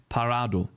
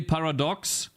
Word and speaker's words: Paradox: He said parado. Okay? That is how we say that. You say paradox as parado. My nick is not Parado, it's Paradox.